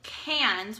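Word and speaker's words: Cairns: then even further north to a place called Cannes which is spelled CA IR and s and it's a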